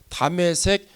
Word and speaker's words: 다메섹: 다메섹 여러 회당에 가져갈 공문을 청하니, 다메섹이라고 하는 거는요 다마스쿠스를 말하는 것인데 히브리 발음입니다.